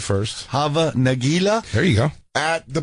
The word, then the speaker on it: Hava Nagila: Hava Nagila?